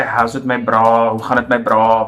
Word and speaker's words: bra: It is bra. Yeah. It's kind of like the Americans say bruh. Or bro. Yeah. It's bra.